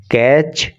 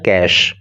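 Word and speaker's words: cache: उसे याद रखना है यह सी ए सी एच ई कैच या कैचे नहीं है बल्कि इसका प्रोनंसिएशन होता है कैश और कैश का मतलब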